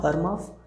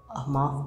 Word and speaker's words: AMAFHH: Not Armaf, Amahff, Amaf Perfumes. I think I'm pronouncing it correctly.